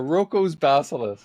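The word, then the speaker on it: Roko's Basilisk: If I pronounce this right, Rocco's Basilisk. Yeah, Rocco's Basilisk.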